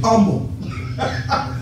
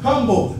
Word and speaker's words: humble: used to pronounce it, the H was silent when the old folk used to say it, humble. Humble, but it's humble.